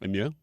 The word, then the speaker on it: MOU: All I hear the president saying in this memorandum of understanding, abbreviated MOU and pronounced Mew.